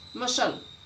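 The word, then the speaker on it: muscle: जब सी से पहले एस आए, जब भी सी से पहले एस आए तो सी साइलेंट। साइंटिफिक, सीनरी, मसल, देखो इसमें सी से पहले एस आया हुआ है तो आपका सी साइलेंट।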